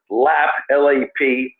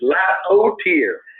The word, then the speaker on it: Lapotaire: So, Mr. Lapotaire, T-E-A-R. That's how they pronounce his name. He always does it phonetically. Lapotaire.